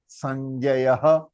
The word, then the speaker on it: संजयः: विसर्ग का ह तो है ना, य के साथ लगा तो ये ह बना, तो ह. तो संजयः, संजयः, राइट.